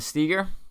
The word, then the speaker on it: Steger: I said another Hammer nutrition sponsored athlete steer did I pronounce your name right yeah all right I'm